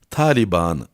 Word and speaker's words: Taliban: biz de kabul görmemiştir tabandaki her iki anın uzun telaffuz edilmesi gerektiği için kelimenin taliban'ı diye bu olması lazımdır ama biz de artık